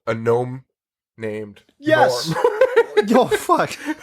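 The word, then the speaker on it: Gnorm: Norm. Yo, fuck. And Norm is spelled G-N-O-R-M.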